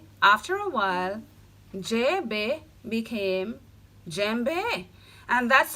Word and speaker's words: Djembe: Yes, Djembe is my name, so the D is silent.